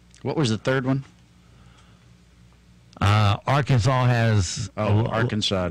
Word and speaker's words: Arkansas: on the books that requires people to pronounce the name of the state correctly I guess that would be Arkansas it would not be Arkansas it's against the law